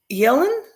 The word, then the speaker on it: Yellen: note from 2021 with Janet Yellen I think that's how you pronounce her last name y-e-l-l-e-n like like Kellen Yellen and uh with her